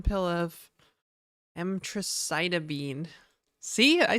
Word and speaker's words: emtricitabine: One was, well, there was 2 pills of spironolactone and 1 pill of emtricitabine.